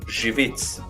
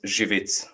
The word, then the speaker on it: Zsivicz: you my name so how you going to spell it is with a z actually because it's in the name so you're going to spell it like jivitz like when you are trying to say like J or something like a French thing so it's G so that's jivitz I think it's not